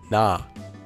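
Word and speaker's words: ㄴ: If we combine it with our vowel ah, we can hear that this letter would become na.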